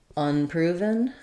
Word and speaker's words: unproven: it different than in so if I'm saying for example unproven it's unproven I'm definitely going to have the um schwa file there and I may even have a little stress probably still the main stress is going to be on the proof of proven but on unproven you definitely on this one want the uh sound not the I sound so there are times